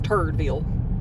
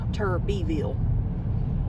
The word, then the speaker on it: Turbyville: The GPS will pronounce as Turdville, but it's Turbyville.